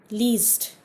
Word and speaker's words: liest: But for do, least. L-I-E-S-T. E has changed to I-E.